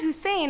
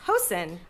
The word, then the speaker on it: Hussein: I say, Oh, it's not Hussein, it's Hosen.